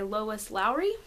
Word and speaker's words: Lois Lowry: Soon after that, I read The Giver by Lois Lowry, I believe is how it's said.